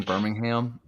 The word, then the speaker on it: Birmingham: going with memphis unfortunately when in doubt when it comes to pronouncing birmingham it's always ham like a pig because south we love